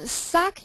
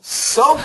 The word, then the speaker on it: soak: jinhong read this uh suck in the sink suck in the sink it's terrible soak in the sink sink oh my